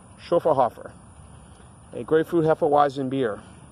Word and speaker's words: Schöfferhofer: we're looking at for the pronunciation shuffle Hoffer SCH o FF ER h au fer shuffle Hoffer a great food hefeweizen